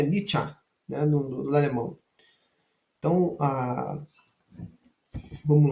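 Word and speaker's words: Nietzsche: terceiro volume volume TRS do luminismo francês a niet tá pronúncia correta de niet é nich né Alemão então a vamos lá dessa dessa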